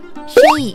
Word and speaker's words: Chelly: 纳瓦霍部落的土地。Shei 是西班牙人根据纳